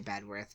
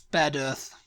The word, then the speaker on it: Bedworth: Out uh bedworth yeah I would just say bedworth but I obviously that's not right it's bed Earth bed Earth yeah B the the